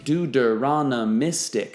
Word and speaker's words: deuteronomistic: would call deuteronomistic history deuteronomistic six syllables the date of this